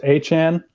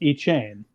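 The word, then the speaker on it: Etienne: Travis ETN uh corrected everyone's pronunciation of his name and it's pronounced Achan and I'm not I'm not joking.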